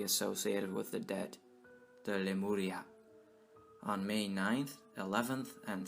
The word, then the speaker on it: Lemuria: According to one theory, Lemuria was originally pronounced Remuria.